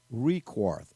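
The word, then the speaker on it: Requarth: profit by Tim T I am recourse if I'm saying that correctly I'll spell it r e q you a R th he wrote that article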